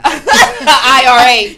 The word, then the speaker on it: IRA: I have a RIA too. IRA. Yes, that's it, right? I have to say it like that because it never comes out.